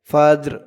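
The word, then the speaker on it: فجر: ফা জিম জবর ফাজে এই জিমটা কলকলার হরফ ধাক্কা দিয়ে পড়তে হবে ফাজে রজের ফাজর ফাজরফ করার কারণে উচ্চারণ হবে ফাজর সালামুন আবার বলুন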